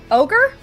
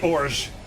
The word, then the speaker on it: orge: In Francais, that is ogre. Ogre? It's actually orge.